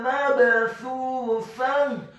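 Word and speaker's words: مبثوثة: Wa zarabiyyu mabthutha. Kata mabthutha, huruf mimnya dibaca fathah 1 harokat. Huruf ba-nya dibaca sukun dan wajib untuk diqalqalahkan atau dipantulkan. Mabthutha.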